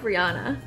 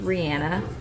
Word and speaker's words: Rihanna: Rihanna oh my gosh you know her name is pronounced Rian I wait really yeah I was on sirusxm and she was like a guess Pier she was like hey it's Ranna I was like okay guys